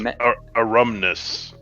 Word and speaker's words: Aerumnus: What happened with how do you pronounce I think it's Aerumnus is what I've Aerumnus. been saying. Okay. And I think that matches with the pronunciation guide.